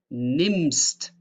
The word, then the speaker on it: nimmst: Listen, we say nehmen, nehmen, and we say nimmst, nimmst. The change here is that nehmen is long pronounced E, because if a vowel like E is followed by an H, that means it is long pronounced E. While if you have two consonants after each other, like two M's, then it is pronounced shortly, like nim, nim, nehme, nimmst, nehme, nimmst.